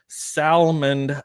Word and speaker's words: Salmond: And my very good friend to the north, Salmond Outdoors. Yes, I pronounced the D in Salmond.